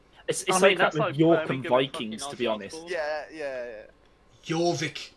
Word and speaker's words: Jorvik: Jorvik, pronounce it right. Jorvik.